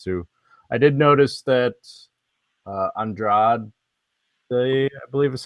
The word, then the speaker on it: Andrade: I did notice that Andrade, I believe is how you pronounce her last name, her opponent, Jessica, was